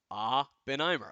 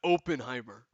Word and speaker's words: Oppenheimer: I not pronounce it right did I not pronounce it right Oppenheimer okay Oppenheimer okay inste of opener the black half comes out when he hit